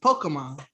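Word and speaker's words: Pokémon: It's supposed to be pronounced Pokemon.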